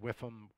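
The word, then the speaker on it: WIIFM: It's pronounced WIFM. What's in it for me?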